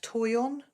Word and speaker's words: Toyon: Californian plant with red berries wow is it's pronounced Toyon yeah wow I'd love to see a picture